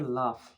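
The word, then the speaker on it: laugh: প্রথমে আছে আজকে লাফ। এল এ ইউ এ লাভ। ইংলিশ উচ্চারণ কি হবে? লাফ।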